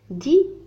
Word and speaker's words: dit: c'est ma poupée, dit Farida. non, c'est la mienne. هنا IE2NE yen. mienne. point d'exclamation. dit mais le T لا ينطق. Dalila.